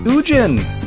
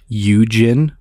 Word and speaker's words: Ugin: go watch that one oogin if i get one more comment telling me that it's pronounced yujin or ugin i'm gonna [ __